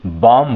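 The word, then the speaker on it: bomb: इसको जो है बी, एम के बाद बी है तो ये बी क्या? ये साइलेंट है। इसको बॉम्ब नहीं बोलेंगे, बॉम्ब बोलेंगे। क्या बोलेंगे? बॉम्ब, यानी बी जो है क्या? साइलेंट हो गया यहाँ।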